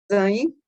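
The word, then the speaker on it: zayin: Zain. Zain. Zain. Zain. Então, o vav se pronuncia como se representa V e o zain como Z.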